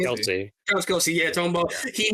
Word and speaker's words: Kelce: Remind me again, I always say his name wrong. Travis Kelce. Kelsey.